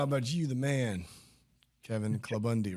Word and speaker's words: Klabunde: you was talking about you the man Kevin clubundi right it's yeah you pronounce that right yeah good job did you